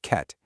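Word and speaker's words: חטא: Okay, first up, we have the word chet. It's pronounced ket, and it translates literally to missing the path or missing the mark.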